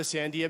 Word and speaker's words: Sandia: I'm very proud of my New Mexico heritage, so it was only natural that I would name my firm after the Sandia Mountains.